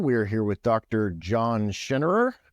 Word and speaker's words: Schinnerer: John Schinnerer, right? That's the proper pronunciation.